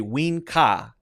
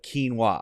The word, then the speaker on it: quinoa: catch this two mistakes I'm gonna say ween Ka instead of quinoa I'm gonna say winka okay just switching the